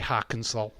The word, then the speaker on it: Arkansas: That does not say Arkansas. It's got an A and not an O. It's how it's pronounced.